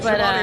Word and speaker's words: Schiavone: They were interviewed, of course, by Tony Schiavone. Tony Schiavone. Cue it up, friend. Tony Schiavone. Okay, I guess not. Never mind. There? Hey everybody, he's there, Tony Schiavone of All Elite Wrestling, and this is True